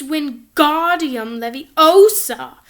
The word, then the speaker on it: Wingardium Leviosa: arms like a windmill you're saying it wrong Harry heard Hermione snap its Wingardium Leviosa make the GAR nice and long you do it then